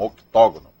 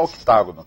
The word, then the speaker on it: octógono: 8 lados, octágono. Muitos pronunciam nessa luta aí, MMA, parece que o ringue lá é um octógono. Pode falar octágono também.